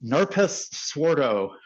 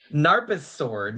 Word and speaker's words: NARPASSWORD: This is Narpas Swordo. Narpas Sword. Most people read this as Narpas Sword instead of Narpassword.